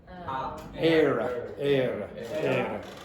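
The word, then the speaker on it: Éire: Anyone know how you pronounce that, by the way? Era.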